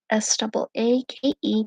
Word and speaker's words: Saake: Saake, pronounced like say what comes out of your mouth, and key, what opens a lock.